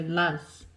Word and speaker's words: Luz: So it's L. In Hebrew, it's spelled with an A and a Z, but it's a U, and we pronounce it with a U. So Luz. And I've found that using